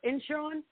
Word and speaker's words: Incheon: Incheon. I'm pronouncing that right.